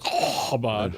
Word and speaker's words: Chabad: So for the people that don't know, you don't pronounce the C unless you're Chabad, all right?